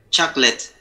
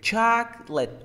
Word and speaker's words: chocolate: Chocolate. Great. Chocolate. Two syllables.